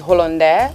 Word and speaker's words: Hollandais: I've just been You said embarrassing Hollandis. myself the whole time. The French word is Hollandais, but people call it Hollandis.